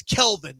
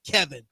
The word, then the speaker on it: Kelvin: people call me Kevin it's ke it's Kelvin not Kevin my mom always said